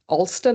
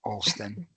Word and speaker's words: Alston: And I went to tea, and Jodie gave me a lesson in how to pronounce Alston, as if there's a W or as if it starts with an O.